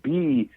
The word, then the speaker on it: Bearth: By the way, it's spelled Bearth. So it's Earth with a B in front of it.